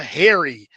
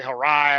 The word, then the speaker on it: Hari: Harai, I'm assuming. I'm sure they butcher it a lot, but it Yeah. Yes. But as you said, it's like Harry like the like a